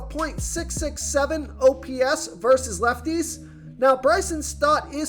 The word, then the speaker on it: Bryson Stott: I like Bryson Scott. I say that name wrong every time. It's Bryson Stott.